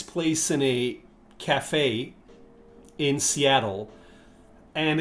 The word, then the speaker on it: Seattle: Now, do you hear the pronunciation of Seattle? Americans will pronounce double T like D. British people will always pronounce the T.